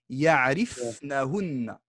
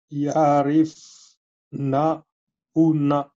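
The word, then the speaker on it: يعرفنهن: Ya'rifunahunna. Mal prononcé. Ya'rifna. Ya'rifna. Ensuite on met hunna. Ya'rifnahunna. Pas ya'rifna. Ya'rifnahunna. Voilà, ça c'est bon.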